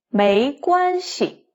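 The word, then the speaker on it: 没关系: 没关系. 系 is in the neutral tone. 没关系. 没关系. 没 no, don't have. 关系 relationships or impact. So 没关系 no impact.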